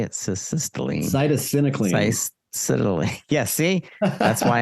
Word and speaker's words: cytisinicline: So can you describe how does cessatinicline, is that how to say it? Cessatinicline. Cytisinicline.